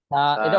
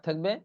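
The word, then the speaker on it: ث: আছে তা আছে থাহ্বা জিহ্বা একটু বের করে দিতে হবে হালকা করে আমার দিকে দেখেন দেখেন ছাটা অনেকে ছাড়ে ছা বললে এটা উচ্চারণ হবে না এজন্য এটা একটু কঠিন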